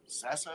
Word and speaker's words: Sasso: as good it's as good as will sass Sasso is that how you say it yeah doing